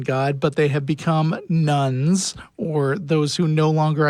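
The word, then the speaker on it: nones: Just to be clear, nuns spelled N-O-N-E-S.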